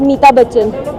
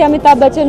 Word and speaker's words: अमिताभ बच्चन: when we were young use to pronounce it एज मीता बच्चन when we कुंट even से अमिताभ बच्चन we knew अमिताभ बच्चन